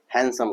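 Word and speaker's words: handsome: जी हां हैंडसम नहीं हैंडसम D silent होता है इसमें हैंडसम कहा जाता है फिर राहुल खिलाड़ी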